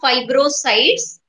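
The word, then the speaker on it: fibrocytes: से नाम याद रखना, फाइब्रोसाइट्स बोलो, हाँ दोबारा से सुनो कैसे प्रनाउंस करना है, फाइबर से याद करना फाइब्रोसाइट्स, हिस्टोलॉजी से हिस्टोसाइट्स, मैक्रोफेजेस,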